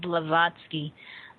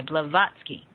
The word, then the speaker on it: Blavatsky: say her name again for our audience Helena blavatsky uh b a v a t v a TSK k y blavatsky right it's a fascinating individual uh but so